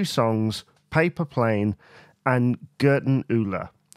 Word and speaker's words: Gerdundula: Paper Plane and Gerdundula, or as I was once told by my dad, he used to pronounce it Gerdundula. I think it has many different pronunciations, but I think the one in which the songwriters use is Gerdundula.